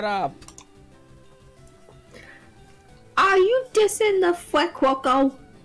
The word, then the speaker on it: Fuecoco: Are you dissing the Fuecoco? How the hell should you pronounce that name? Fue Coco. Like, think of Fuego is fire in Spanish, and then Crocodile Coco, like Crocodile.